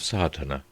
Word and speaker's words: Sadhana: about the pronouncing of sardana the accent Falls decisively on the first a which has the broad sound of the letter chapter 1 the relation